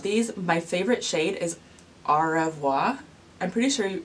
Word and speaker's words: au revoir: my favorite shade is au revoir I'm pretty sure it's pronounced R evoi it's spelled one way but it's supposed to be pronounced like the French words but that's enough I'm